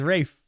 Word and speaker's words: Ralph: I think the established actor that they picked for Voldemort is Ralph Fiennes. Or Rafe. Sorry. I never know how to say it. Is Rafe.